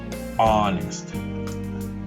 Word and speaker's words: honest: portuguese would be ora so in both cases here the h is silent you can see the